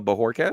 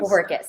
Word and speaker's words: Bojorques: Yes, because not everybody, actually almost nobody knows that J just sounds like an H.